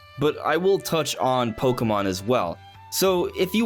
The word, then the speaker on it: Pokémon: I know there's a little accent on the E, which is why I'm sure a lot of people put an emphasis there, but if you pay attention to actual Pokemon things, you will see that it is pronounced Pokemon.